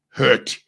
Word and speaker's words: hurt: By heart ke inoba ndipela wrong okanye ndipronounce wrong eligama lithatha ukophuka kwenhliziyo. Hurt, H-U-R-T.